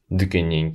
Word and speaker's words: Дүкеннен: Дүкеннен келе жатырмын. Начнем со слова «магазин». Слушайте и повторяйте. Дүкен. Дүкен. Обратите внимание на изменение места ударения в зависимости от изменения формы слова.